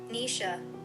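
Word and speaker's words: Naoise: Noa Noa Dolan. Let me let me let me Nisha. Nisha. Let's practice together. Nisha. Okay. The Happy Couple by Nisha Dolan.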